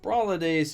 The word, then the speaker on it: Brawladays: Now, Brawladays is supposed to rhyme with holidays, I'm assuming.